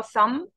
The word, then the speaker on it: thumb: عندنا بس ده اللي هو thumb thumb thumb and the B is silent we don't pronounce it thumb thumb.